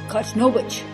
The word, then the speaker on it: Kachnowicz: So how do you pronounce that? Kachnowicz? Kachnowicz.